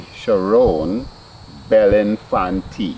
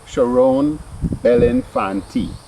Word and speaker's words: Cherone Bellinfantie: And I'm talking to the lovely Cherone Bellinfantie. Yes. I did pronounce it well. Yeah. Beautiful. Yeah. You hear that? Cherone Bellinfantie.